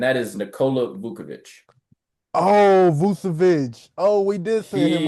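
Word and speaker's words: Vučević: Nikola Vukovic is mine. Dang. Vucevic, Yeah. You not must Vukovic. Vucevic, yeah, Vucevic.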